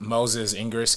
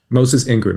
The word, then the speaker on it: Moses Ingram: mean I would love to see more of Moses Ingress character am I pronouncing her name correctly Moses Ingram yeah yeah she's um one of the night